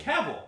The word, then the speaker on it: Cavill: How does he say his name? Cavill.